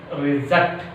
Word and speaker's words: reject: The fourth rule is some disyllabic verbs. Some disyllabic verbs express on which syllable? Second syllable. Some disyllabic verbs which express on a second syllable.